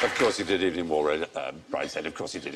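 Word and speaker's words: Waugh: I was just checking whether or not you'd remembered not to mention It's not wars. pronounced like that, is it? It's Evening Waff. No, if only it were.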